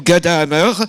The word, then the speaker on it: Ghada Amer: la grande artiste plasticienne Rada Hammer Rada prononciation à l’égyptienne ou ghadahammer présente à Marseille parce que